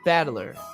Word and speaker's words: Battler: the problem is my own name battler is made up of the characters for fight in person and it's pronounced battler so he is a fight person he's literally battler as in fight person put it all together